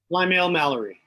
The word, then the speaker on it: Plymale-Mallory: Plymale-Mallory. Yes, thank you. I don't like mispronouncing people's last names.